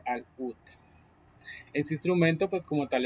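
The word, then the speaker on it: العود: Eh, al Uud se llama, se escribe árabe, pero se dice al UT.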